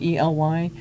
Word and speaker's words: Ely: It looks like Eli, E-L-Y, but it's Ely. That's how you pronounce it.